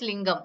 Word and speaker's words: lingam: lingam, Last word is lingam. Okay, you have to say. Okay, lingam. Okay, va? lingam, Lingam. lingam, Dum is not there. Lingam, gum. dum, Gum. Lingam, lingam, not dum.